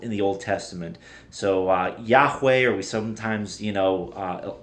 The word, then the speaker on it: Yahweh: this is my name we would say Yahweh we don't know exactly how to pronounce it um in Hebrew they write without vowels and then eventually later on they had a system where they would you know sort of put these dots to indicate where the vowels word